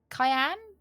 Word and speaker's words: Cayenne: It's cayenne like cayenne pepper. It just it sounds sounds wrong.